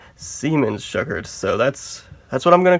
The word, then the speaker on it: Siemens-Schuckert: I'm no German, so I used to call it the Siemens-Schuckert, but evidently that's the wrong pronunciation. It has to be Siemens-Schuckert, so that's what I'm going to call it from now on.